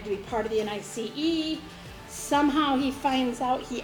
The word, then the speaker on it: NICE: They are called the National Institute of Coordinated Experiments, also known as the NICE, or if you think about how that is spelled, nice.